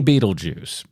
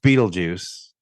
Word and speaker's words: Beetlejuice: how you spelled his name but just say Beetle Juice it it's pronounced Beetle Juice but I think that that's how a originally